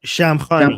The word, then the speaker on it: Shamkhani: Shamkhani Shamkhani yeah. Thank you I can't do the right forget me thank you Armin. The Shamkhani uh No try try try it try it.